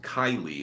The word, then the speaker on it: Kaylee: to see you uh kaylee i don't know i'm new but glad to be here my name is pronounced kylie okay my bad or